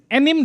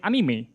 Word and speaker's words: anime: Is anim the correct way to pronounce it? No. No it's not because in Japanese we pronounce everything. So instead of saying anim like English we say anime.